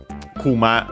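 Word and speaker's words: くま: what I said u kuma uh should it's like also it's accent actually accent on the last syllable means bear so yeah doesn't uh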